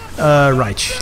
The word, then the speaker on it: Raich: Raich. Like a Raichu. Raich? Okay, Raich. Imagine that dash is a U. It's like a Raichu. Raichu. Like a Pokemon. Okay, Raich.